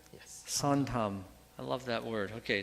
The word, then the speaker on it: 선함: Sontam? Did I say it right? Yes. Sontam.